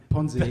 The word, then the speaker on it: Ponzi: he was in a pony he was caught up in the pony scheme I I wouldn't pronounce it Pony pon pon I'd emphasize the Zed to take it away Ponzi yeah but I still think